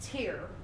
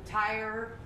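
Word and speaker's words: Týr: and it is pronounced tear like the tear of a cake or oh i guess it would be easier to be like there's a tear coming on my eye that's a little bit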